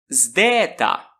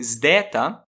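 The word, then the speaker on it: ζῆτα: Na maioria dos cursos de grego, ensina-se que o zdeta soa dz, dz. É verdade que essa pronúncia deve ter existido em algum momento, mas temos várias evidências que nos permitem concluir que, pelo menos no período clássico, o zdeta correspondia ao nosso zd na palavra desde.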